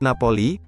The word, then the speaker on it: Napoli: Società Sportiva Calcio Napoli, umumnya hanya disebut Napoli, diucapkan Napoli, adalah sebuah klub sepak bola Italia yang bermarkas di kota Napoli, Campania.